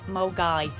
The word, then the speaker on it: Milngavie: the name of the place and it's actually pronounced molgai so i picked up a couple of last